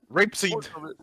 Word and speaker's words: rapeseed: uh it's got uh it rhymes with grape see it's grape seed but minus the g i don't know what